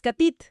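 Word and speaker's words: כתית: La palabra hebrea para macerado es catit. Se escribe con cuatro letras: CAF, t, yod y otra vez tav.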